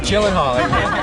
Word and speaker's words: Gyllenhaal: say it for you so you know it jillen Hall Jen jillen Hall everyone it's jillen Hall before I get to